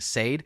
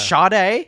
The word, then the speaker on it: Sade: by the artist uh I think it's pronounced Sade she made the song Smooth Operator oh shade shade it's shade yeah man I've never